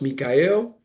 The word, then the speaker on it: Michael: My name is spelled Michael, but pronounced Mikael.